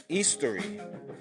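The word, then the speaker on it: Eostre: OS t-a-r-a and another variation is eastery uh e-o-s-t-r-e now if I'm pronouncing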